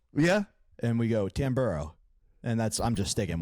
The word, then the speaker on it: Tamburro: people say it's supposed to be like tamborow yeah and we go tamburo and that's I'm just sticking with it I